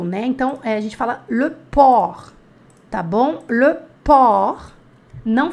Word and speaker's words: porc: temos o porco né então a gente fala-lhe Pour tá bom Lan pó não pronuncia você tá bom Pour le pó é